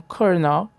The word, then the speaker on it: colonel: Use o som Calel com confiança e saiba que você está falando a língua da vitória francesa com a máscara da elegância italiana. O veredito do professor Dylan é: a palavra kernel é uma mentira necessária para manter a paz entre a escrita e a história. Ela escreve coluna em italiano para manter a nobreza, mas fala cornal em francês para manter a tradição das ruas.